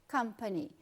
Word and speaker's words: company: Então, você tem, por exemplo, company, uma palavra de 3 sílabas, e a primeira é a que você intensifica, company.